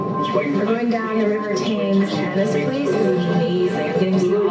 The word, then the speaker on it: Thames: Now, it looks like it's going to be called the Thames River. However, that's not the correct pronunciation of it. It's actually the Thames.